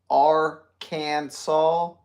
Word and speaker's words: Arkansas: be kept in bathtubs Arkansas must be pronounced Aransas in Arkansas it is